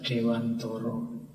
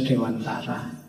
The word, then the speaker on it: Dewantara: Malam ini kita ketemu beliau Ki Hajar Dewantoro. Ya kalau pakai bahasa Jawa kan bacanya Dewantoro. Nanti yang mungkin tidak familiar ya bunyinya jadi Ki Hajar Dewantara.